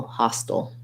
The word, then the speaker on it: hostile: to the old still hostile in that case it has first syllable stress so try it trying like hostile intent hostile army hostile neighbor or hostile hostile i guess that still has first syllable stress we just you can choose between doing aisle or o at the end of it versus hustle hustle um